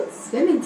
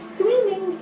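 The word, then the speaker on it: swimming: जरूर कहें कि आपको स्विमिंग सिखाएं। स्विमिंग इसका गलत उच्चारण है। इसके सही प्रोनाउंसिएशन के लिए पहले बोले स्विम, फिर बोले इंग, जोड़कर बोले स्विमिंग।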